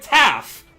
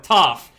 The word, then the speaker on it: Tau: And then he presents the word Tau, T-A-U, but he pronounces it Taff, or Toff.